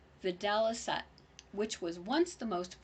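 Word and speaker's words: videlicet: is permissible to see in Latin pronounced vidalisa which was once the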